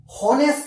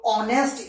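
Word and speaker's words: honest: हॉनेस्ट नहीं होता, एच इसके अंदर साइलेंट होता है। ये ऑनेस्ट इसकी प्रोनाउंसिएशन होती है।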